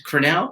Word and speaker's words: Crannell: pleased to welcome amelia cornell hey rob how are you i'm great i we always want to be did we pronounce that right it's cornell correct yep yeah you got it right i was like i